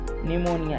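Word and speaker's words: pneumonia: निमोनिया ये रोग का नाम है। तो देखो पी साइलेंट हो गया ना?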